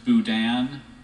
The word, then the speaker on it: boudin: served as an entree is there any alternate pronunciation there's just Budan Budan Dan may have the language of origin French may have the definition